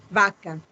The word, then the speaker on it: Vacca: Vacca. Vacca. So if it's two C's, then it's a K sound.